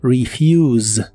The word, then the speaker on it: refuse: de inglés es refuse la e se pronuncia como I y pronuncias otra I antes de la u esta palabra termina con el sonido de la s vibrante que suena como la z inglesa refuse refuse en el